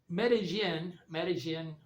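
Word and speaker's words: Medellín: And so Medellin, Colombia, the double L is pronounced like gin or yin, or they pronounce it different in every country, is also at about 1,300 meters or 1,500 meters.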